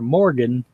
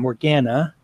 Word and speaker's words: Morgana: her because he kept calling her Morgan instead of Morgana.